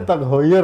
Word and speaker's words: TAG Heuer: Bacanya Tag Heuer, teman-teman.